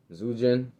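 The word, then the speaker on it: Zhu Jin: uh Zoo zujin that's how you pronounce it yeah Susan here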